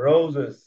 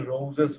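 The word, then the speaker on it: roses: যেমন প্রথমে দেখো, সান প্রথমে আছে, সিং প্রথমে আছে, কিন্তু পরেরটা দেখো, রোজেস। রোজেস। রোজেস। এটার উচ্চারণটা কিন্তু রোজেস হবে না, রোজেস হবে না, রোজিস। রোজিস। তাহলে কি জয়ের মতো হচ্ছে কিন্তু।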